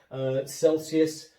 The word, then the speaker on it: Celsius: Celsius, the soft C sound.